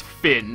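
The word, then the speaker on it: Fionn: one copy of Finn it's actually pronounced Finn apparently Finn McCool luckily only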